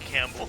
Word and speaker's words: Campbell: That's pronounced Campbell. It's Like Bruce Campbell, yeah.